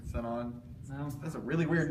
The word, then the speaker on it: Sinon: I always pronounced it Shion instead of Sinon.